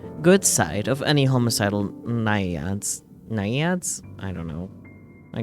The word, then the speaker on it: Naiad: How do we pronounce it? Naiad. Naiad.